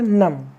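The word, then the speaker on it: numb: इसको क्या पढ़ा जाएगा नम एन यू एम बी नम नम का मतलब होता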